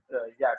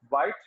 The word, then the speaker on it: Wyatt: And Thomas Wyatt is, you can also pronounce him Wyatt sometimes, because the old English pronunciation was different, quite different from the modern English pronunciation. But in modern language, if you are in an interview or you are presenting something, you must pronounce it White.